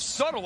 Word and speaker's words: subtle: it they're like it's subtle i'm like why is there a bee in there there's literally you don't pronounce the be at any point in the word buchanan gets two points